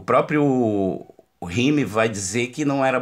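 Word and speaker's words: Hume: né o próprio rimic é o Rio e se escreve h u m e o próprio rhyme Vai dizer que não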